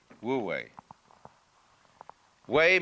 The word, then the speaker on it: wu wei: And then with this character this is pronounced this one is woo and this one is way. Wooi we means to act to strain to strive or to interfere.